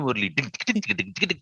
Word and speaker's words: Murali: He says, but it's spelled Murali. It's Murli only.